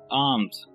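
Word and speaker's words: alms: इस वर्ड को आप पढ़ेंगे आर्म्स। यहाँ पर एल को आपने प्रोनाउंस नहीं करना।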